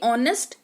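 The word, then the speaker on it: honest: जैसे कि ऑनेस्ट एच ओ एन ई एस ऑनेस्ट मतलब ईमानदार ऑनरेबल यानी कि माननीय आवर यानी कि घंटा।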